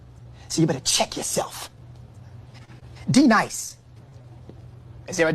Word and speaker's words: D-Nice: Now D nice. Do you mean Denise?